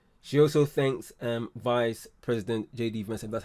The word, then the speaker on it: J.D. Vance: She also thanks Vice President J.D. Vance, that's how you pronounce his name, and his wife for bringing him home.